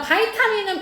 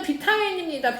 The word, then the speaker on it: 바이타민: 그 다음 바이타민은 비타민입니다. 비타민 발음이 바뀌었죠. 발음이. 스티로폼이 스타이로폼이 되고 비타민이 바이타민이 되고 요오드가 아이오딘이 되고 이런 것처럼 바뀌었어요.